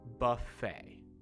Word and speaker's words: buffet: little bit tricky because you don't say the t at the end of the word just almost like f-a-y it's uh comes from french i believe so that's why you have the silent t at the end of the word buffet try that one all